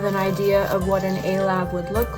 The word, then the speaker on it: Alabe: a-lab oracle deck and that is how you say a-lab a play on words for an astro lab which is actually a